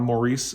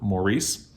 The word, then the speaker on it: Maurice: least an expansion on maurice by e.m i keep saying maurice and it's pronounced morris in britain but i i was